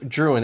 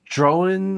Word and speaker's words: Drouhin: Well, it comes from Joseph Drouhin, as how we pronounce it here in the United States. It's pronounced kind of like drone, but with like a N, so like Drouhin or drone.